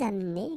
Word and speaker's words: amenez: Vous amenez, exactly the same thing. You don't pronounce this e.